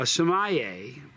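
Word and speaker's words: sommelier: who did this for a living samay a Somaya um okay Somaya are wine EXP experts uh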